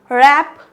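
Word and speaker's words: wrap: डब्लू आ जाए तो क्या पढ़ेंगे रंग right रैप रैपर wrinkle rest तो यहां पे क्या है डब्लू साइलेंट लेटर है आई होप यहां तक आप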